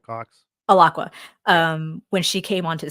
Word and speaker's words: Alaqua: god, I just, like, spaced on how to pronounce her name again. Alaqua Cox. Alaqua.